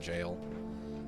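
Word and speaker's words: gaol: I don't care if you say it's called jail I'm gonna pronounce it as Gail yo ever since I saw that word in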